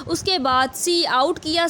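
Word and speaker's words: cout: सी ओ यू T basically आवाज़ निकलता है सी आउट इसको हम प्रोनाउंस करते हैं सी आउट उसके बाद जोशी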